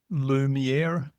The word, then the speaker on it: Lumiera: You run and you founded and run Lumiera. Lumiera, Lumiera. yes. So Lumiera. Yeah, I've got to Lumi get the for pronunciation.